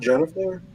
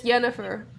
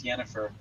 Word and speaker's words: Yennefer: Isn't it pronounced Jennifer? It's Yennefer. It's Yennefer. It's like some weird Polish version of the name.